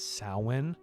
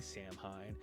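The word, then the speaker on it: Samhain: is the Celtic holiday known as sin. However, it is spelled S H M H A I N to really let you know that it's Irish because you don't it doesn't sin and it looks like Sam Hine and for the longest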